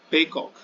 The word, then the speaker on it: Paycock: That is why he's called a peacock. Peacock is the pronunciation, that is the Irish pronunciation for peacock.